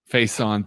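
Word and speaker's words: Facyson: How do you pronounce that? Somebody hooked me up with that. Faison.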